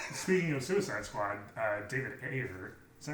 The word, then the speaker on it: Ayer: Well, speaking of Suicide Squad, David Ayer, is that how you say it?